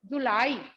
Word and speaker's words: जुलाई: जुलाई, जुलाई देखिए कितना जल्दी बोल रहे हैं। जुलाई, जुलाई, जुलाई। तो जुलाई बोलते समय कम हम लोगों को बोलना पड़ रहा है, जल्दी बोल रहे हैं। जू में, ज में छोटी ऊ की मात्रा जू, ला, ल में आ की मात्रा ला, ई बड़ी, क्योंकि ई बोल रहे हैं।